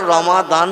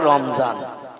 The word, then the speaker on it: রমাদান: এই জন্য আমরা রমাদান বলি আরবি ভাষায়, ওরা বলে রমজান।